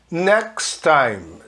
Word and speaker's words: next time: Next time. Next, sem falar o T, junta tudo. Next time, sem falar o E no final.